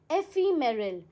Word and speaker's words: एफिमेरल: हाउ डू you pronounce this? It's pronounced as एफिमेरल।